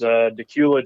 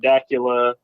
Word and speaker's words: Dacula: My hometown is Decula, Georgia. A lot of people mispronounce the name of my hometown. I have heard Dacula, Decula, Dracula on the news before, local news.